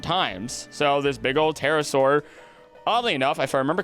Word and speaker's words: pterosaur: So this big old pterosaur, oddly enough, if I remember correctly, pterosaurs, remember, the P is silent when it goes to the bathroom.